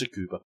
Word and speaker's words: Tsukuba: It's Tsukuba. Okay. Tsukuba. And slow. Tsukuba.